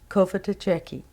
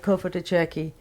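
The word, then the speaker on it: Cofitachequi: but then you see if you sound it out it's pronounced just the way it's spelled cuff it - checky actually I'm pronouncing it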